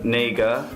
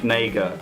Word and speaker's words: Negga: Actress in a leading role, Isabelle Huppert for Elle, Ruth Negga, that sounded really wrong, it's not, I'm not sure how it's pronounced, Ruth Negga, that's it, for Loving, Natalie Portman